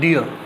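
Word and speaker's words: dear: ड का symbol D, E, a, again are silent, डियर।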